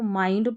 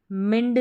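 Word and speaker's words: mind: To control, CON, control, काबू करना, control करना, आवर OUR, आवर माइंड, अब इसको माइंड पढ़ना है, मिंड नहीं पढ़ना है।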